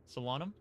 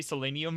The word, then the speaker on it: Solanum: however you want but that pronunciation of salon was atrocious. Solanum Solanum. Did I say selenium or something? I think I said selenium.